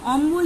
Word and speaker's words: অম্বল: আবার অন্যদিকে দেখো অম্বল, কম্বল। এই যে অম্বল যখন আমি কি বলছি তখন উচ্চারণ কি করছি বলতো? অম্বল, কম্বল। দেখো এখানে কিন্তু বয়ের উচ্চারণটা কিন্তু আমি করছি আলাদাভাবে, কিন্তু বয়ের উচ্চারণটা আসছে, দেখতে পাচ্ছ তো? অম্বল, কম্বল। তাহলে দেখো এখানে বয়ের উচ্চারণ স্পষ্ট।